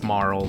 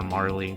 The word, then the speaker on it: Marle: you want to be specific her name is Marl but I don't even care I call her Marley because again that's a dumbass kid didn't know